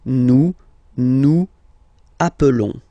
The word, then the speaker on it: nous appelons: Okay, nous appelons. And then little link would be perfect, so let's pronounce the whole thing again. Nous appelons. Nous appelons. Okay, final S doesn't exist.